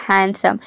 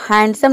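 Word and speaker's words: handsome: इसको हैंडसम नहीं बोलते हैं, यहाँ पे डी साइलेंट है, वर्ड के बीच में आ रहा है एन डी और उसके बाद जो एस है ये क्या है, कॉन्सोनेंट है, मतलब कि ये इस रूल को फॉलो कर रहा है। तो यहाँ पे डी साइलेंट रहेगा।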